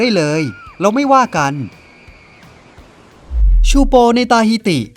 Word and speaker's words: Teahupo'o: ยาก อยู่ เหมือน กัน มัน ออก เสียง ว่า ชูป ซึ่ง แปล ว่า กะโหลก แตก ใน ภาษา ตาฮิติ ใช่ คุณ ได้ ยิน